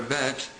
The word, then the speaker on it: bet: sound in English B when the letter bet is without AES without the little dot inside of it then the letter bet is pronounced vet this is extremely similar